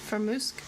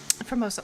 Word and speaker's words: formosa: It was a Poketheria Formusk. No, that's not how you say it. Formosa? Formosa, thank you.